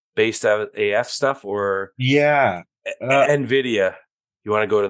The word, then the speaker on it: Nvidia: I say Nvidia, but it's Nvidia.